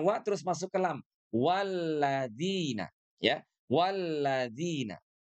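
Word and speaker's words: وَالَّذِينَ: Yang kedua, huruf zal di sini ya harus kita ucapkan dengan tepat. Di mana huruf zal itu makhrajnya itu berasal dari ujung lidah kita ya, bersentuhan dengan gigi seri atas.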